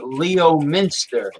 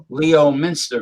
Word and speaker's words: Leominster: Now, I was conceived in Leominster, which is Leominster, Mass, which is you can say Leominster, or I say Leominster.